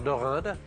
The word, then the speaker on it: Dorinde: Alors deinde déjà c'est la première dorinde que je reçois dans ma vie.